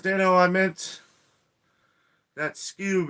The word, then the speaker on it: Skewb: daniel i meant that skewb is pronounced like scooby-doo and we have heard